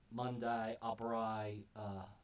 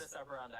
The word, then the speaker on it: modus operandi: Fox, you know that they have a particular Mundi Operai. I forgot the exact how to pronounce. Modus operandi.